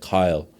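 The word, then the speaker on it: Kyal: A E L and she pronounced it Kyle.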